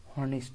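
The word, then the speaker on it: honest: এনভেট হয় যেমন ইউ আর অ্যান অনেস্ট ম্যান অনেস্ট এখানে কিন্তু এইচ উচ্চারণ হয় অনেস্ট অনেস্ট অনেস্ট অনেস্ট ওর মত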